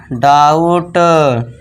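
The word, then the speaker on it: doubt: बस ये जो बी है साउंड यहां पे साइलेंट रहेगा। टी के लिए ट कर दिया। तो ये हो गया डाउट काउंट डाउट काउंट अब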